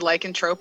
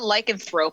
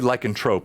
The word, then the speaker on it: lycanthrope: the only reason why I said lycontrope is because I've been corrected by so many people like it's not lycanthrope it's like a Trope so that's why I say it like that lycontrope even though it's like anthrope right yes someone if I'm